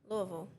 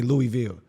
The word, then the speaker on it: Louisville: Say Louisville. Louisville. Oh, you say it right. Okay. Some people say Louisville.